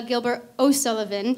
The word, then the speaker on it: Gilbert O'Sullivan: first one is a Gilbert O'Sullivan song I keep making the mistake of mispronouncing it or like mumbling and so people think I'm saying Gilbert and Sullivan I'm not Gilbert O'Sullivan and then followed by